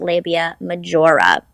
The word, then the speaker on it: labia majora: just letting you know it's pronounced labia majora turns out this guy thinks that it is in spanish hence the mahora anyway that's my mispronunciation